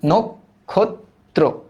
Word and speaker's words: নক্ষত্র: মানে অধনি তাই না আদিতে অ এর পরে কি আছে অ এর পরে খিয় আছে তাইলে অ এর উচ্চারণ হয়ে যাবে ও এর মত তাহলে কি হবে নক্ষত্র